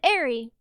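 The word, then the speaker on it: Aerie: Yeah, but but if you um like there there are separate stores for women's underpants, like Victoria's Secret and Airy, which I pronounced I for years because I'm stupid.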